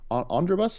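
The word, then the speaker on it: Andrabus: we're here talking to Andra bus is that how you say it on your twitch channel yeah that's actually combination of my first name and a bus like what would you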